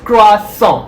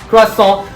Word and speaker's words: croissant: are familiar with the croissant but very often mispronounced the term it's cross song as simple as that not croissant or croissant or anything cross saw i'm having my coffee with a croissant as